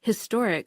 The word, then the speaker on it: historic: consonant sounds for example it is a historic expedition because historic starts with an H sound but it's an honourable